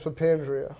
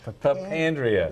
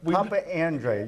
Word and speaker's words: Papandria: has been it's uh my last name is papandria papandria yes that means we've been Papa Andre you still we've been mispronouncing it for a year and a